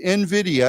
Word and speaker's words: NVIDIA: It says NVIDIA, and of course when we say their name, people pronounce it N and then Vidya.